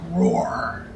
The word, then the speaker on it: Roar: My name is Roar. Rhymes with Roar.